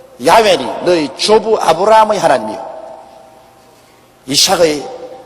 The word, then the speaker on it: 야훼: 바로 그 사닥다리 꼭대기 위에 야훼 하나님이 계십니다. 여호와란 말은 원래 올바른 히브리어 발음은 야훼입니다. 야훼란 발음이 우리 한국식으로 번역해서 여호와라 하는데 원래 정확한 발음은 야훼 하나님이신 것입니다.